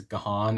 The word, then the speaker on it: Gahan: heard Dave, his name, his last name, pronounced as Gahan and Gone.